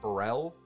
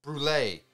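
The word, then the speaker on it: Brûlée: because he actually gets burrell burl burrell brulee no yeah one of the cop brulee it's brule thanks for continuing to watch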